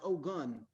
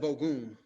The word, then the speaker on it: Ogun: if it pleases you i would like my name pronounced oh gun instead of ogoon why we've always called